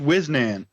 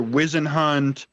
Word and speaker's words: Whisnant: It's pronounced Whisnant, but I hear Wizenhunt, Wisenant, and all these crazy ones.